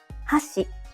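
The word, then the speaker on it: 箸: example if you say hasi it means Chopsticks but if you say hash it means Bridge let's hear the difference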